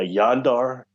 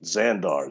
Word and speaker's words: Zandar: what he gave me it sounded more like a yondar but he puts to in my mind a z on it zandar z-a-n-d-a-r but it sounded like pronunciation-wise yondar but anyway on this craft